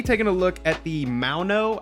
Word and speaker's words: Maono: We're going to be taking a look at the Maono. I think that's how you pronounce it. It's spelled like M-A-O-N-O. So I'm thinking like a Lamau, so I'm thinking like Maono.